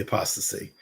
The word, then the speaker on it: apostasy: So I put the link to the apostasy. That's how you pronounce it, right? Yes, the apostasy.